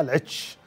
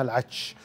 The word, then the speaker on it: العتش: قبل سنتين كنت رايح القصيم فصورت قلت هذا فيحاء العتش، فقال لي أحمد أنت تنطقها خطأ، اسمها العتش وهذه مزارعنا ولنا ولنا فيها صلة وحنا قارب أصحاب المزارع وأصحاب اللبن المشهور.